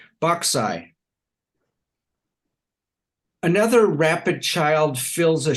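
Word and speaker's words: boxae: bauxite that's spelled b-o-x-a-e it's a made-up word but it kind of sounds like it might be Latin plural for boxes boxai another rapid child fills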